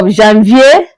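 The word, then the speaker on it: janvier: We made mention of Jeanvier which is January Jean Vier Feb Mar that's August September September October October November November December I hope You got all that.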